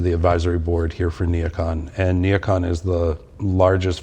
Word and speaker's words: NeoCon: Neocon? Am I pronouncing that?